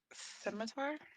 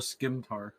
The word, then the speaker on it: scimitar: That's why people call it a skimtar. Yep, it's a scimitar.